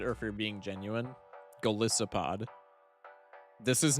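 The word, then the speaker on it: Golisopod: Galissopod. This is not a bit. Just read, bro. Read the word how it's spelled.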